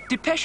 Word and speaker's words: Depeche: sound of that name and we chopped off the xn and we just kept the pronunciation de peche I'm mode show just